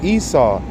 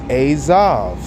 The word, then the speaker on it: Esav: And it's not Esau, it's Esav.